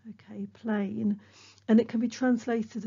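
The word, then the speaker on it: πλήν: nevertheless okay that word in greek is is pronounced plain okay plain and it can be translated as something like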